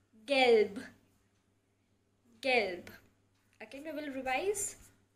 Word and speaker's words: gelb: So for color yellow you will say gelb. So in the end you have to pronounce a little bit of B. Gelb.